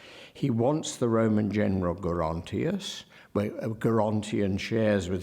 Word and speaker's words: Gerontius: So all that is holding to the hard G.